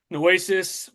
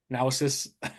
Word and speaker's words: Naosis: So Project Noasis, man, I keep pronouncing it wrong too. Naosis.